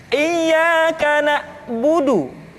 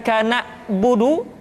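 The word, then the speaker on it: إِيَّاكَ نَعْبُدُ: Kemudian perhatikan ketika huruf ain disukun, maka suara kita tidak boleh mati. Contoh, iyyaka na'budu, bukan kana budu, tetapi agak ditekan sedikit, kana budu, iyyaka na'budu.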